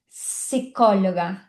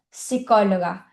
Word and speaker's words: psicóloga: letra P é que quando a letra P está junto com a letra S, a gente não vai pronunciar a letra P. Então a gente diz psicóloga, psicologia, diferente do português, que é psicóloga, psicologia, né? Então no espanhol não tem esse P. Se escreve com P, mas a gente não pronuncia.